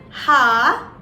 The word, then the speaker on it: H: one is h so h in german is pronounced as ha ha now the word that i would like